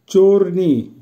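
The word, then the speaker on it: чёрный: চোরনি, চোরনির অর্থ হবে কালো, উচ্চারণ হবে চোরনি।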